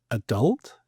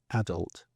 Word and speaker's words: adult: would say address and adult in the UK strangely not on the first syllable whereas the US do it on the first syllable and say adult.